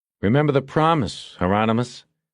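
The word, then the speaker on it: Hieronymus: He looked at Bosch through the camera and said, "Remember the promise, Heronomous? Rhymes with anonymous," Bosch said.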